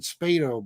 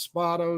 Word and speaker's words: Spado: with oris uh orispato i always pronounced it spato by the way but he says it's spotto so i respect that